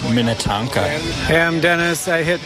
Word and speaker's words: Minnetonka: John, it's pronounced Minnetonka.